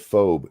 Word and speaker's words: FOBE: They're trying to correct my pronunciation of phobe. The reason it's phobe is the E at the end.